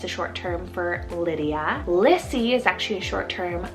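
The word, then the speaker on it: Lissie: similar sound so i have the name liddy lissy and lenny so l i d d i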